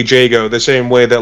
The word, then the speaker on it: Jago: pronounced it I think jogo in that video which fair enough that's how it's spelled but it is pronounced canonically Jago the same way that